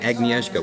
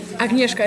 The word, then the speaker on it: Agnieszka: need to ask you i've heard your name pronounced agnieszka and agniezka which one do you prefer agnieszka is the correct one okay because i've heard